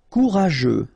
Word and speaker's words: courageux: Courageux, final X not pronounced, and then you've got this U, E, and G plus E, after that it's je, so je, okay? Courageux, courageux.